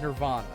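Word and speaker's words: N1RV Ann-A: the hotel instead okay it's N1 rvnb but it's going to be pronounced Nirvana I get it yeah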